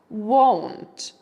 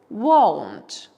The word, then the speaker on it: won't: Я використала скорочену форму will not, won't. Будьте обережні з вимовою. Маємо the tong. Won't. Won't. Не плутайте з want.